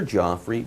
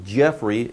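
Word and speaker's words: Geoffrey: work Jeff for your Joffrey both pronunciations are okay although Jeffrey is the more modern of the two well in his work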